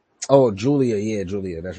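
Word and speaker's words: Giulia: like Stephanie v here and what's the other Golia I don't even know how to say her oh Julia yeah Julia that's right that's the one that's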